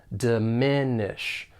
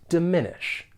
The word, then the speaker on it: diminish: a challenge in 2016 for pronunciation the verb has three syllables and the stress is on that second syllable diminish diminish to diminish something or